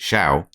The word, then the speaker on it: Schow: Wouldn't necessarily guess that's pronounced Scowl, would you? I would. Would you? I would, yeah. How would you pronounce it? Shao?